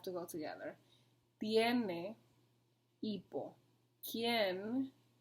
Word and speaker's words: quién: ¿Quién? Same thing with quién. I didn't separate quién because the U is silent and the I and the E make a strong vowel together, so they stay together.